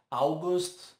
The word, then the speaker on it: August: Costumo ouvir August por causa do Augusto, agosto, mas o certo é August.